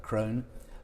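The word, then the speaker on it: Krohn: for Taylors and for Crofts and Fonseca and Krone, if I pronounce that correctly.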